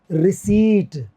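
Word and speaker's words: receipt: आपको पैसा दिया, कोई रिसिप्ट तो दो मेरे को। रिसिप्ट नहीं होता, दिस इज रिसीट। जो रसीद इसको बोलते हैं हिंदी में आप लोग, वो रिसीट होता है, P साइलेंट होता है इसके अंदर।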